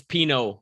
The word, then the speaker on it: Pineault: Nicolas Pineault? It's Pineault, like the wine.